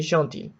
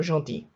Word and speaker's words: gentil: Okay, so it is a y sound at the end. If it's the feminine one, I guess. Yeah. Alright, so gentil.